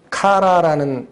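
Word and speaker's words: χαρά: 환심을 사다는 단어가 아니에요이 기쁨은 카라라는 발음으로 읽히는 헬 나옵니다 근데이 카라라는 기쁨은 설명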